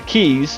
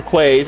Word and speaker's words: quays: a great spot to use the keys or quays. I tend to say quays. I hear keys a lot, but it's spelled Q-U-A-Y. Say it however you want, but this would be